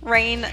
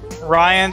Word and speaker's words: Rian: who that is who Rainn Johnson Rian Johnson he's the guy who butchered the last Jedi see that looks like crane not Ryan I know but that's